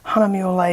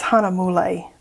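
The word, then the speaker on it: Hahnemühle: the American pronounced pronunciation I kept trying to say like maybe the German pronunciation I don't know honeymoon is what I was thinking but it's Hana mole so we're gonna say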